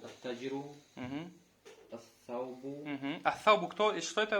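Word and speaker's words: التاجر: Тут аль-аль получается не читаем. Просто удваиваем саму букву. Удваиваем. Первую букву. Ат-таджиру.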